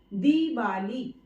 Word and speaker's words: दीवाली: दिवाली नहीं होता है, दीवाली। तो यहाँ पर दी पर ज्यादा जोर देकर हम बोल रहे हैं, इसलिए दी वाली होगा। तो पहली बात तो ये